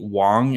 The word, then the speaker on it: Wong: So, Simon Wang prefers uh I guess the pronunciation um is how she like he prefers his kind of uh more I guess I don't say like Chinese name traditional name. Uh so Hi Wong is the proper pronunciation of it.